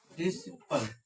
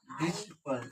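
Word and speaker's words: disciple: यहाँ पे देखिए एस के बाद सी आया, इसके ठीक बाद ई आया, तो हम सी का उच्चारण नहीं करेंगे। ठीक, अब इसको साइलेंट रहेगा। सी साइलेंट। ठीक, पढ़िए। ठीक, क्या है, क्या पढ़ा जाएगा? डिसिपल।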